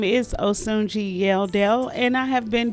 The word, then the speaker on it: Osunjii: hello my name is osunji yeldell and i have been doing stand-up for